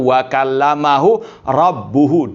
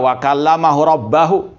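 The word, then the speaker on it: وَكَلَّمَهُ رَبُّهُ: Bacanya hanya satu, wa kallamahu rabbuhu, di dhamma robnya, rabbuhu. Yang intinya Allah yang berbicara di situ. Nggak bisa ditukar-tukar lagi harokatnya. Nggak bisa wa kallamahu rabbahu.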